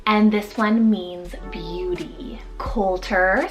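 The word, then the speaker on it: Colter: Coulter, spelled C-O-L-T-E-R, Coulter, with that nickname of Colt.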